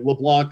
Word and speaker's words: LeBlanc: you by saying you well you technically pronounce it the right way i pronounce it the